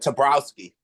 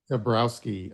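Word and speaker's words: Toborowsky: Like, how do you pronounce his last name? Oh, Tabrowski. Tabrowski.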